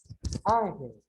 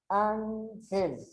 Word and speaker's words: Ángel: Ángel. Ángel. Ó, o som mais forte aqui. Então, primeiro separo em sílabas. Después de dónde está la sílaba tónica más fuerte. Se encuentra aquí.